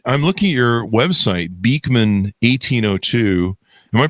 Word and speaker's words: Beekman: Anyway, so now you guys have created, I'm looking at your website, Beekman 1802. Am I pronouncing that right?